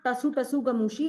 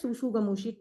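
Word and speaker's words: tsutsugamushi: It is not tasu tasu gamushi. It is pronounced as sushu gamushi. T is silent then I don't know why t is used.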